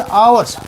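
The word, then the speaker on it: hours: देखो यहाँ पे एच, तो एच तो कॉन्सोनेंट्स है, बट हमने एन लगाया क्योंकि यहाँ पे एच साइलेंट है और आवर्स आ उच्चारण हो रहा है।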